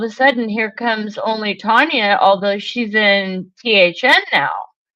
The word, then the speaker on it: Tanya: Well, what I did was when Only Tanya, it's actually pronounced Tanya, like as in I'm laying out for a tan.